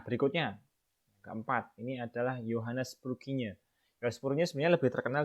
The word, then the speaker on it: Purkinje: Nah, ini lengkapnya Johann Evangelist Purkinje, bacanya gitu ya, Purkinje.